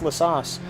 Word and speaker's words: La Source: Connery, it's La Sauce. We've been pronouncing it wrong this whole time.